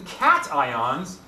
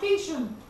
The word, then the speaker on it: cation: Now, the reason cations, and I know you're going to be fun and fancy and go, let's call it cation, but it's pronounced cation.